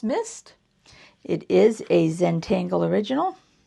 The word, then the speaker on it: MSST: So once again, it's called MST, which I'm going to believe is pronounced mist.